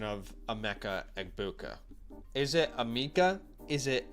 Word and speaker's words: Emeka Egbuka: Someone said I pronounced it right because I've heard it pronounced different ways. I'm just gonna go. Emeka. Okay, right. Emeka Egbuka. Emeka. Emeka Egbuka, not Amika.